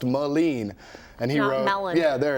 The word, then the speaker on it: Melin: thanks for the Pro but it's pronounced malen and he wrote yeah